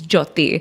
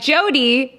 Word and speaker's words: Jyoti: you know the name you can't pronounce it's Jyoti yeah and they'll be like Jody Jody Jody Jody it's fine Jody so like a lot of like Gore and Mexico they call me Jody yeah there's no D